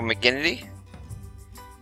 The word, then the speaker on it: McGinnity: right so I guess apparently pronouncing it wrong it was Joe it's Joe mcin not Joe mcin which makes sense there's an i there n so Joe mcginnity as a my play-by-play